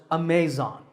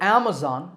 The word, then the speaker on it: Amazon: internet shopping giant Amazon this word is commonly mispronounced Amazon when you say it correctly the first syllable is app and the stress is on this first syllable so Amazon is correct once again Amazon next